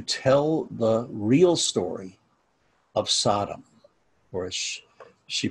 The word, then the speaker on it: Sodom: So, now, Rabbi Brous went to some lengths to tell the real story of Sodom, or as she pronounces in Hebrew, Sodom, to pose to Brian Stevenson the power of